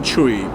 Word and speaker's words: Chui: It's a Chinese surname. So my full name is Sam Chui. So if you're right to pronounce it right, it's Sam Chui.